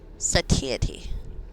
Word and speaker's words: satiety: Dictionary says satiety. Satiety.